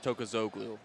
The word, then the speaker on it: Tokoglu: It's Tokoglu. Got the pronunciation right there.